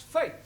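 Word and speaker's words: fête: the rule for example f e t e is also pronounced fate yeah one right one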